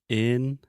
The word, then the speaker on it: internet: population, we just say internet. Yeah. Internet. No, I can't. I had to practice a little bit before. Okay, one time, just in-er-net. Internet. Repeat with me. In. Er. Net. Net. Inner. Inner. Internet. Internet.